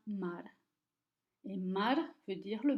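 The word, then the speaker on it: མར: Le Ra est une lettre qui est appelée une suffixe et qui garde seulement la prononciation de sa consonne R. Et donc, Ma plus R devient Mar.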